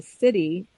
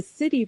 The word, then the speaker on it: Siddhi: And then this, he calls this thing the city, and it's spelled Siddhi. So it's not City, city. The city.